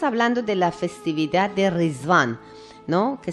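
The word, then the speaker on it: Riḍván: de la festividad de riván no que se escribe con ritual pero se pronuncia risband y es la fiesta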